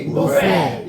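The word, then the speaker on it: buffet: इसका जो सही तरीका है इसमें टी आपका साइलेंट है। आप बोलोगे बुफेट। क्या बोलेंगे? बुफेट।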